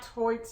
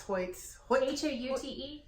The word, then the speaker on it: Hoyt: out of my Hoyt worsted. Is that how you say that word? Hoyt, yeah, it's Hoyt. Houte?